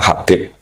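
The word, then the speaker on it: حبيب: Itu di harakatnya kitab itu ada yang nulis khubb. Yang benar Oh, nggih. Yang benar itu bacanya Habib.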